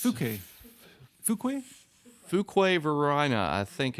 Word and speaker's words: Fuquay: Oh yeah, nobody knows how to pronounce it. Furquay. It's Fuquay.